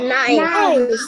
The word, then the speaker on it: knife: A knife. Knife. Remember, KN has a silent letter. That K is silent.